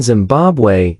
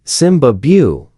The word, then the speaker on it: Zimbabwe: In reality though, the B in Zimbabwe is silent because the Shona people who live in Zimbabwe don't pronounce the B sound. Instead of Zimbabu, they say Simbabu, which literally translates as we are the lion.